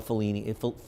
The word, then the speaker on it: Fellini: Now, I know Fellini, how do you pronounce it?